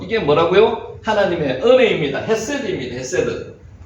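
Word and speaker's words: חסד: 이게 뭐라고 읽을까요? 집사님 혹시 읽으실 수 있어요? 헤세드. 성경에 가장 많이 나오는 하나님의 가장 속성, 큰 속성, 하나님과 가장 가까운 속성, 헤세드.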